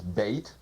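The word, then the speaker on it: בית: of this second letter of the alphabet is bait pronounced b or V usually it means a house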